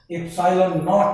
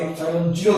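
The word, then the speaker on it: epsilon naught: বলো যদি তোমার ফ্রি স্পেসে হয়, শূন্য মাধ্যমের ক্ষেত্রে বলবো কি, শূন্য মাধ্যমে আমরা ওটাকে প্রকাশ করবো এপসাইলন নট বা এপসাইলন জিরো দিয়ে।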